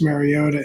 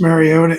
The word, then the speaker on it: Mariota: And I think you don't bring a Marcus Mariota in. I said it right. A Marcus Mariota in to start.